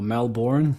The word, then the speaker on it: Melbourne: I guess I was born in in Melbourne Australia or Melbourne as many of you are across the world would pronounce it and uh you know